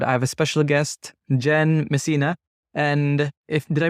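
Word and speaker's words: Jenn Messina: and today's episode I have a special guest Jen Messina and if did I pronounce it right you got it yeah oh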